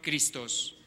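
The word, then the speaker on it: Χριστός: unción en el ungido que en griego se pronuncia cristos en efecto el signo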